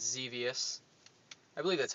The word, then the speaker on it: Xevious: But it's another 7800 game, and it's Xevious. I believe that's how you say it. Yep. It's dangerous. It's devious. It's Xevious.